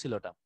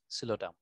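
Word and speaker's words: Psilotum: এই প্ল্যান্টগুলো হচ্ছে সিলোটাম, এই যে এগুলো হচ্ছে সিলোটাম, পিটা এখানে সাইলেন্ট, এগুলো কিন্তু ওয়ান কাইন্ড অফ টেরিডোফাইটস, এগুলো হচ্ছে সিলোটাম।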